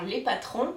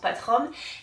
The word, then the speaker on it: Patrom: qui s'appelle les patrom alors je sais que Sophie la créatrice elle l'avait imaginé comme prononciation les patrons mais comme ça c'estécrit les patrom tout le monde le prononce patrom et je trouve que c'est très que ben c'est comme ça qu'on le retient donc c'est aussi comme ça que que je le dis désolée Sophie euh et